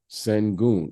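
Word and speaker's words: Şengün: I'm pronouncing his name? Sengun.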